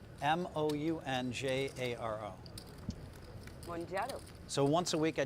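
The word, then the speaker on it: Mounjaro: I don't know how to pronounce the other one because I haven't heard. Monjaro. How is it spelled? M-O-U-N-J-A-R-O. Monjaro.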